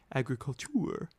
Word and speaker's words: agriculture: Agriculture is a pursuit in France, as it is in our own country, but the word is pronounced differently, agriculture.